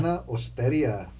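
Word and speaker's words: Nonna Osteria: Nona Osteria.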